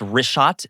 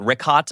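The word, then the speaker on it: Richat: In the first couple uh I just want to say it's Rishot. I used to call it Rickot. I was mispronouncing it.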